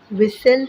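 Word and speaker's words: whistle: विसल, सीटी, विसल्स, सीटियाँ. टी यहाँ पर साइलेंट है.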